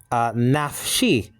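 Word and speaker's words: נַפְשִׁי: Actually is nafshi. Nafshi. You got the noon, you got the pathach, so that's na. And then you have a pay with the schwa underneath it, making it one syllable, naf.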